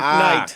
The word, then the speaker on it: Knight: He was in The Dark Knight. K is silent.